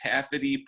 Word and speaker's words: Taffety: with that am I saying it right the Taffet II punk theater that's right yeah I went the